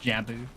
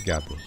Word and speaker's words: Gabo: good L on gabo thought you pronounced Jabo no it's gabo I actually forgot about